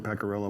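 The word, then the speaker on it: Pecoriello: The I is silent in Pecorello, by the way.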